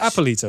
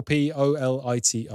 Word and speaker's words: Eppolito: a couple of movies is it appalito it's spelt with an e how do you spell it again e double p o l i t o polito yeah no yeah you